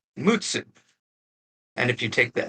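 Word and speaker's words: 六: Now the last one is 6, and the ordinal of 6 is pronounced Mutsu.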